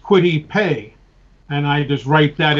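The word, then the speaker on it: Kwity Paye: about it so it i you know it's pronounced quittipe and i just write that in phonetically as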